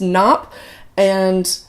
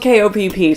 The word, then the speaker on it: Kopp: I'm not totally sure on that, but her name is Constance Knopp, or Constance Kopp, I guess. That's silly. It's spelled K-O-P-P, so I didn't realize that it was Constance Kopp until I said it out loud.